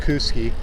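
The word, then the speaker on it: Kooskia: showing distances to places like we're going to Kuski and it's pronounced Kuski.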